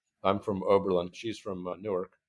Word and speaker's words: Newark: from Oberlin she's from Newark or nerk as they pronounce it nerk okay n nahaya as